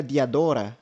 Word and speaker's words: Diadora: E aí eu estou falando da Diadora, marca italiana, ou acho que a pronúncia correta seria Diadora, eh, no no italiano, certo?